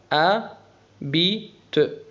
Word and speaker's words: habite: Elle habite حرف الأش لا ينطق habite.